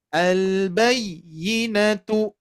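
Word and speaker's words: الْبَيِّنَةُ: Ya, apalagi di sini ya khususnya ya bertasydid ataupun waw bertasydid, nanti ada sifat yang namanya nabr ya, an-nabru ya, yang mana harus ada sedikit penekanan ya. Al-bayyinatu.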